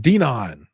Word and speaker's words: Denon: from Alabama and uh in Alabama Denon is pronounced donon I remember the first